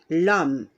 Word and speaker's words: l'homme: ou devant un H muet. L'homme, exemple.